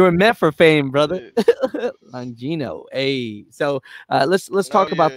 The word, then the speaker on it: Longino: Longino.